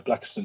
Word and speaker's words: Blackistons: Am I actually pronouncing that correctly? Yes, you are. Yeah, Blackistons Chambers.